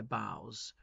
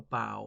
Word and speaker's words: bough: Rustle thy boughs, as in rustle your branches, a bough or a bough, like, you know, the Christmas carol, deck the halls with boughs of holly, or boughs of holly, some people pronounce it.